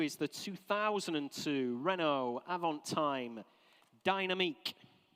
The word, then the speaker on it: Dynamique: Lot 72 is the 2002 Renault Avantime Dynamique. I think they pronounce it in France, or Dynamic, if you prefer, if you're English.